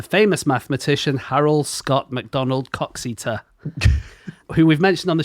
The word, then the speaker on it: Coxeter: It must be Coxeter. Coxeter, I guess so.